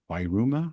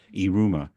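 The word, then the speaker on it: Yiruma: Long, and these, it's Wairuma, I think it's pronounced Iruma, Yruma.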